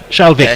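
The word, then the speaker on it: Schalkwyk: Shalvik, not Wink.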